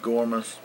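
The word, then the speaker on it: gouramis: I think they're pronounced gourmas, G-O-U-R-A-M-I-S.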